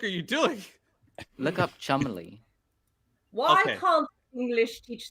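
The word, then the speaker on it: Cholmondeley: Oh my god, it is pronounced Chumley?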